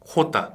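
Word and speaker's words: jota: 자, 처음에 나오는 거 우리 영어의 J가 아니라 스페인어로는 어떻게 했죠? 호따. 그렇죠, 호따. 호따. 그래서 히읗 발음은 항상 여기 목젖에서 나와야 네.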